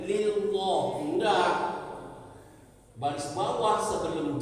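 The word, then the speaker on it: لله: memang tebal membacanya ya lam jalalah itu bila diikuti baris sebelum lam jalala itu adalah baris atas dan baris depan dia tebal bacanya tapi kalau di baris bawah gak boleh bacanya macam kalau baris bawah dia tipis tak boleh lillah enggak baris bawah sebelum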